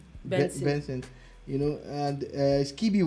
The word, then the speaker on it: BNXN: buchu's new name is bnxnb yes it's pronounced vincent you know and uh